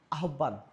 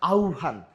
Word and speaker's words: আহ্বান: এখানে যদি আমরা বলি আরেকটা শব্দ আছে, আমরা খুব বেশি ভুল করি, আমরা কি বলি? আহ্বান। না, এটা হচ্ছে আহ্বান।